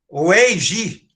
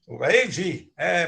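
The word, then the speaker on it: 危机: Então, pronuncia-se Weiji. Weiji.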